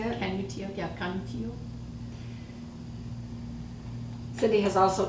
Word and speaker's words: Canutillo: Canutillo, yeah, Canutillo.